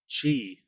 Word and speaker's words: Qi: The key chiq chi I'm a good host, right?